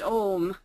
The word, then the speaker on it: AUM: And said that it should be pronounced Om.